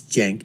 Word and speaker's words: Cenk: and I would just basically want to tell sank and I know how the name is pronounced it's Jen but you know I call him sank anyways